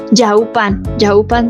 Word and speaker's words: Yaopan: Yoapan, esa es la pronunciación correcta.